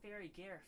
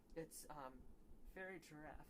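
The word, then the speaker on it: Farigiraf: It's not Fairy Gareth. Someone at one of the tournaments kept saying Fairy Gareth. No, it's Fairy Giraffe, because it's giraffe rig backwards, so Fairy Giraffe.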